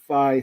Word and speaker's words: Phi: The Phi 3. That's how you say it.